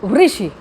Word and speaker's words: ऋषि: तो ऋषि, ऋषि, बहुत लोग ऋषि पढ़ने लग जाते हैं।